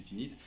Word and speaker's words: Tanit: par tinite parler de tanites et du signe de Tanith mais en fait il faut prononcer tinite voilà qui est elle